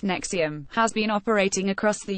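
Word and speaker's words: NXIVM: their skin the group nxi VN pronounced nexium has been operating across the u.s.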